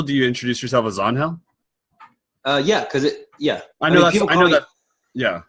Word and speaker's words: Onhell: that yet so you're on hell oh oh and h-e-l-l-o an HDL which is the Spanish pronunciation of my real name so you call me on hell it's actually promised eats